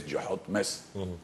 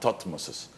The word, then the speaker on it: Thutmose: That's why, importantly, we have to say his name is Jehotimes, not Thutmoses.